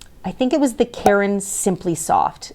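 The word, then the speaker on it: Caron: leftover yarn um I think it was the Karen simply soft c a r o n for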